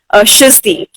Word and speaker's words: SHIZTY: So उसने मेरा नाम इस तरीके से रखा SHIZTY, which is my stage name, and it is pronounced as Shizti, right? So it is almost the same, but then if you will search for it, you will only find me.